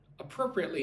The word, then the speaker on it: appropriately: So pro, pre, it, ly. 5 syllables. Put the emphasis on the second syllable. 1, 2, pro, appropriately.